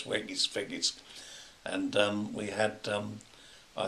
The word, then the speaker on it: Weggis: I think it's spelled W-E-G-G-I-S, Weggis, Weggis.